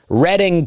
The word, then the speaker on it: Reading: the, uh, DMs that I received about my pronunciations uh, helped me out a lot. But I'll be in Reading, Pennsylvania. Reading, PA, I'm told.